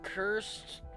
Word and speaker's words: cursed: um you got a cursed wand the the thing for the crystal yeah are you paying attention it doesn't sound like paying attention the first world the first word is two syllables cursed that's clever that's a